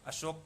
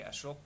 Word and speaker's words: अशोक: राम को रामा बोल देते हैं, बुद्ध को बुद्धा, अशोक को अशोका, ऐसा उच्चारण बिल्कुल न करना है, न ही लिखना है। राम को हम राम ही कहेंगे, बुद्ध को बुद्ध कहेंगे, अशोक को अशोक कहेंगे।